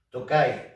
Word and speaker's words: Tokaj: tokai suprimiendo la final la diferencia de pronunciación entre la región y el vino pues es el acento tocar en la región toca y es el vino que